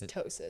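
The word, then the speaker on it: ptosis: where one Tois it's tosis is it just Tois it's just tosis it's a silent P um it's where one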